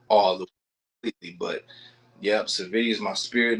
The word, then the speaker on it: Savitty: It's Savitty.